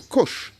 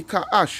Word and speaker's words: Cush: All right, so Cush. All right? Although it's spelled a bit different in the article, all right, which is they put K in the scriptures here is C, but it's really Ka'ash. In the Hebrew, it is Ka'ash.